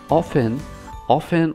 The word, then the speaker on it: often: Often or often, the same pronunciation is correct.